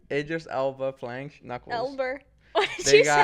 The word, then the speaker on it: Idris Elba: Why do we say his name wrong? How do you say it? Idris Elba. Idris Elba playing Knuckles.